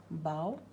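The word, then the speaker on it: bough: But in case of bow, like I've written it over here, example could be plow, slough, but the same O-U-G-H is pronounced as slough. Okay, bow, slough. See, the same O-U-G-H, but over here it ends with F, but over here the pronunciation is bow.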